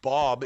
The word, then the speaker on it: Baub: wait what's your name i'm i'm bob in the game it's spelled b-a-u-b um but well but